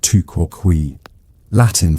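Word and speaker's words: tu quoque: You've just deployed the two quay fallacy pronounced touquin for you.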